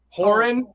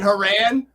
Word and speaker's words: Horan: and then uh wait i've been saying your name wrong the whole time horn and i'm saying haran oh i don't even